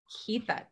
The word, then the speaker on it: Keitha: you say your name kathya yeah okay yes like Keith with an a keitha purple I'm so excited